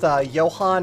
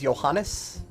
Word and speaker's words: Johann: Yeah, shoutouts to the Rogue Legacy LP I made, like, literally almost a decade ago at this point, in which I pronounced Johann as Johannes for the entire final fight.